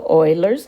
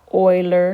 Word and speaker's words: Euler: graphs now i'd like to introduce you to euler's number notice that it's pronounced euler not euler or anything like that and uh